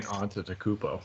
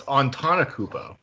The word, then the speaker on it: Antetokounmpo: I keep saying Antetokounmpo. He's Giannis Antetokounmpo. Antetokounmpo? There you go. Oh, it's Antetokounmpo.